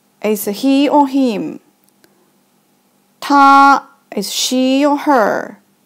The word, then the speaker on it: 她: Still pronounce as 她, but because it had woman's part, it means she or her.